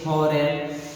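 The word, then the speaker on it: foreign: एन के पहले जी दिया हो तो जी साइलेंट हो जाएगा। जैसे फॉरेन, यहाँ पे एन के पहले जी दिया हुआ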